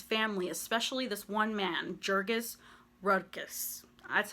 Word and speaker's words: Jurgis Rudkus: But for the most part, the entire book really is so focused on this family, especially this one man, Jurgis Rudkus. That's how I pronounce his name, okay?